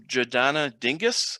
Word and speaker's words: Jodana Dingis: next comment is from jodana dingis I hope I pronounce that right hi good morning hi good morning thank you so much and yes you did pronounce it right and I appreciate it